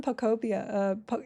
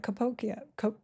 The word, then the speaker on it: Pokopia: Pokemon Pokopia, Capokia, Pokopia? I said it right the first time.